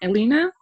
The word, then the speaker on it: Elina: super excited so yeah you pronounce my name Elina and um my family